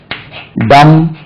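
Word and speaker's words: dumb: சொல்வது உண்டு பி இஸ் டம் இன் டம் பி இஸ் டம் இன் டம் அதாவது டம் என்ற வார்த்தையில் பி உவமையாக இருக்கிறது பேசாது சைலென்ட் சொல்றதுக்கு சொல் நல்லா இருக்கு பி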